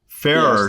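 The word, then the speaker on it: Farrer: more attuned and enamored with uh Austin uh Farer. Is that pronounced correctly? Farah.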